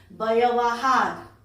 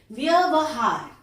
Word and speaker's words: व्यवहार: आप लोग बोलते हो व्यवहार, लेकिन शुद्ध होता है व्यवहार। यहां ध्यान दीजिएगा, व में य सटा हुआ है।